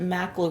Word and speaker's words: Mach: I've also seen the mock loop mentioned. Um well he they pronounce it mac loop. Is it mac? Mac here we would pronounce it. Mach.